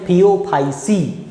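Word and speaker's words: Phaeophyceae: इसको बोलते हैं हम थियोफाइसी। ठीक है, तो इसमें क्लोरोफिल ए और क्लोरोफिल सी होता है। याद रखिएगा प्रोनाउंसिएशन से।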